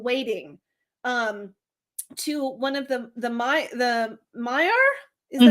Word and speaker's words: Maiar: Except Galadriel, who became literally, to my mind, a lady in waiting to one of the Maiar? Is that how you say it? Maiar.